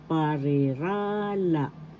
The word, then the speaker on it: parirala: Phasises in Tagalog is parirala parala. First syllable pa. Second syllable re. Third syllable rah syllable la. So you say this parirala. The accent is in the third syllable parirala.